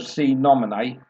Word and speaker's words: Sine Nomine: at least we got the right pronunciation of see nominee and it looked like